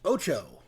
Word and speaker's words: OTXO: OTXO, pronounced Ocho.